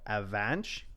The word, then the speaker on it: Afanc: So it's a Welsh name. So pronunciation is Avanjk. So Avanch. Oh. I'm just gonna say Afanc.